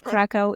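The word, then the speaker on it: Kraków: So you're originally from, and I don't know if I'm going to pronounce this right, Krakow, Poland? Krakow in English, yeah.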